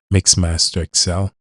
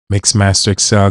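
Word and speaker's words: MaxmasterXL: under the same username, Mixmaster Excel. M A X M A S T E R XL spelled just like it pronounced once again.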